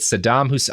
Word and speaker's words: Saddam Hussein: Having written numerous treatises on the Middle East for various publications, his predictions on the Iraq problem with Saddam Hussein.